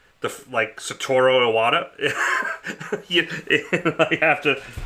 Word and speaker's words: Iwata: Yeah, it's actually pronounced Iwata, but forever we always called it Iwata, so I have such a trouble. I have a hard time saying Iwata.